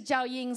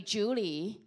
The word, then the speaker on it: Jiaoying: bike my name is zhao ying summers americans can not pronounce zhao ying they call me julie jolie and do i look like